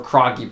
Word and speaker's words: Krage: actually create productions or Kroenke productions is how you actually pronounce it but it's spelled like crazy okay are a GE